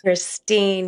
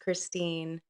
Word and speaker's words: Kristin: right it is Christine Christine is that correct Christine yes spelled like Kristen pronounced Christine okay so you heard that you heard that